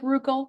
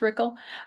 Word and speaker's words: Rickel: I know it looks like Ruckel. It's pronounced Rickel.